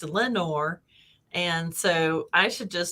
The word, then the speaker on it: Lenoir: town nearby called um lenoir and it's got the le in front of those words and it's pronounced lenore and so i should just start calling everything nor and because it's lenore and yeah and we